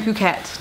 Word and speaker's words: Phuket: It's our last day here in Phuket, Thailand. And actually, that's how you say it, Phuket, not Phuket. Spelled P-H-U-K-E-T, but pretty sure it's Phuket.